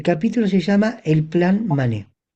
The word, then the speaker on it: Manet: escribió un libro sobre Mané. Recuerden que lo pronuncio en francés, es Manet en castellano, mané en francés.